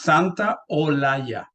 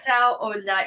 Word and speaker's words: Santaolalla: The way you do it, it's Santa Olaya. Santa Olaya. Okay. Yeah, that's the way. Yeah. Santa Olaya, because I just won't